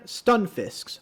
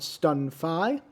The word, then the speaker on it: Stunfisk: up against the orchestra stun fisks i've been told that's the proper way to pronounce it not stun phi not sure if i